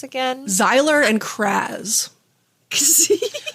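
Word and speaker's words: Xyler: the boys names again zyler and CZ Zyer is spelled with an X I love Sy bet it is you can't spell zyler without an X it's like xylophone which is amazing yes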